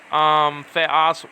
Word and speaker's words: theos: So sometimes theos would be, the emphasis will be on the first syllable, the, okay, and it'll go down after that, theos.